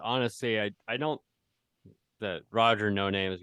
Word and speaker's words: No Name: if you ask him, it's actually like it's actually pronounced Noname. But people just say no name.